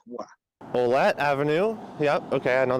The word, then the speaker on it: Ouellette: Ouellette's a little closer, but the thing is, so in Ouellette, it should be, the OU should be treated like a W.